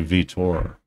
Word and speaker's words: Vitor: I say Vitor. Vitor. You gotta pronounce the O.